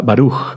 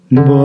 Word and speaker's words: Baruch: la interpretación puede ser la primera sílaba fuerte y la segunda sílaba suave. Por ejemplo, con la palabra Baruch, bendito. Baruch. ¿Sí? La primera fuerte.